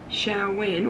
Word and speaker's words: Samhain: around November 1st called Samhain, which I think is how you say it. Might have slaughtered it there, but that's how I think you say it, which means summer's end.